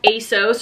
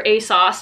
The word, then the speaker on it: ASOS: Next up, we have ASOS or ASOS, depending on how you want to pronounce it.